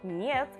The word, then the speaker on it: нет: This time it's not N, but that's E vowel, okay? To remember this particular sound, I suggest you learning some words borrowed from English, which have almost same pronunciation. For example, internet or America. Agree, you would never pronounce it with a different sound but E vowel, alright?